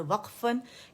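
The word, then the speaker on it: وقف: लेकिन जो अरबी में वाव है, काफ पे सुकून है, तो वहाँ पे कलकल है, वक़ वक़, एनफा सुकून के साथ वक़फ़, ठीक है.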